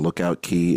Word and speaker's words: Lookout Cay: Cast Away key right is that now or is it Lookout or is it Lookout look out Lookout key yes you know uh I've